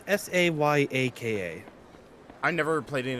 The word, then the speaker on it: Sayaka: Sayaka, I believe is how you pronounce the name. It's Sayaka.